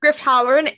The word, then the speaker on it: Griff Halloran: Griff Halloran from Star Wars Resistance.